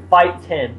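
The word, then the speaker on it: Phiten: No, is it fighting or fighting? Fighten. P-H-I-T-E-N.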